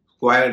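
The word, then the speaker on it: square: क्वेक कहेंगे कक नहीं इसी तरह स्क्वेयर स्क्वेयर का उच्चारण भी स्क्वायर नहीं होगा स्क्वेयर होगा ययू के मामले में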